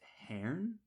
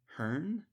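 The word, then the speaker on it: Haern: the actual pronunciation h a r n i pronounced Hern um Hearn but uh that's one of the main characters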